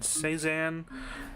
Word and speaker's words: Cézanne: I'm gonna assume that's how it is, because the Google thing said Cézanne, and it sounded a little white.